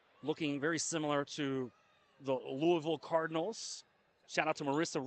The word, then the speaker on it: Louisville: You don't say Louisville, it's Louisville. They give you a hard time if you say Louisville.